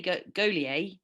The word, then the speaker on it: Gaulier: How do you say Gaulier?